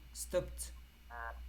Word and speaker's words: stopped: bus stop stopped here the Ed is T stopped stopped in front of